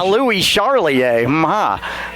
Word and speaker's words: Louis Charlier: 55 is Louis Charlier. Mike, how you like that? Yeah, I'm going with Louis. Okay. That's the French pronunciation. Louis Charlier.